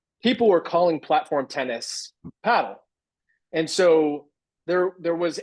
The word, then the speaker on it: padel: And so we want to be uniform with the rest of the world. And so paddle is the correct pronunciation.